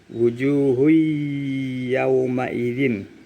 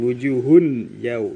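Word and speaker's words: وُجُوهٌ يَوْمَئِذٍ: Wujuhui yauma idzin, bukan wujuhun yau, itu salah. Karena di sini ada tanda tasdid. Ya, di sini ada tanda tasdid. Jadi bacanya lebur.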